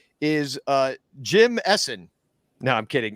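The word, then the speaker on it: Ehsan: know it's it's it's his name is essen though his first name is essen but it's spelled over e-h-s-a-n essen bukhari is the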